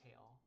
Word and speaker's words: tail: The silent E at the end of the word makes the A say A.